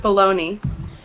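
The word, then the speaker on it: bologna: but that's not how it's pronounced yeah we pronounce it baloney so it's you're right it's a it's the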